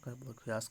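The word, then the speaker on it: Verkhoyansk: इसकी प्रोनाउंसिएशन पे जाइएगा, वर्खोयास्क बोला जाता है इसको।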